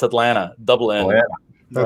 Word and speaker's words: Atlanta: in atlanta so um yeah people think it's atlanta no it's atlanta dublin yeah that's right it's it's all those